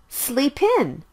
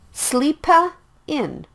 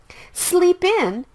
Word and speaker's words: sleep in: Sleep ends with the consonant sound P, and in starts with the vowel sound I. The sound is blended as well. Sleep in. Don't say it like sleepa in. Sleep in is the natural sound.